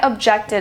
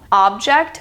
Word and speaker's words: object: a little while I objected and I stayed home object versus object do you hear the slight difference in pronunciation two different words different pronunciation same spelling object object the next one we have